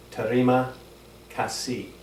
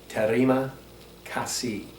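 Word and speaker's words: terima kasih: what country you're in in Indonesia you say Tajima kasi and again that is Teddy ma kasi you roll the R's kind of like in Spanish or Italian a little bit tatty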